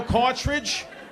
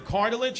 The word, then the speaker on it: cartilage: I'm like, "You mean cartilage?" He goes, "Yeah, the cartridge." I'm like, "No. Is your knee a printer? What are you talking about? Say it right.